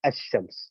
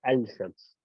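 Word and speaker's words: الشمس: If it's a shadda, like in the case of a shams, as you can see in that thing, you pronounce it as ash-shams. You don't say al-shams.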